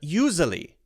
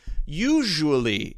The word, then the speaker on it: usually: They say they say either usually, or usually, and that's okay. You can say usually, but usually is the correct pronunciation.